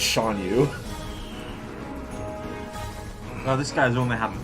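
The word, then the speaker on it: Shan Yu: I keep wanting to call this guy Guan Yu whenever I say his name and think it, but no, it's Sean Yu.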